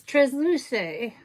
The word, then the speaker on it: Transluce: And then last but not least, I got schooled on how to pronounce this company. It's Transluce Beauty.